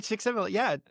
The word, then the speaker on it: Csikszentmihalyi: Mihai Csikszentmihalyi. I can never pronounce his last name.